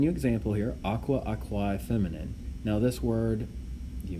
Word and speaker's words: aquae: Again, the AE is pronounced I. So aqua, aquae, feminine, or aqua, and then dash I, feminine.